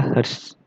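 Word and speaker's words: hertz: frekuensi satuannya Hz ya Ini bacanya adalah horse kemudian kalau n itu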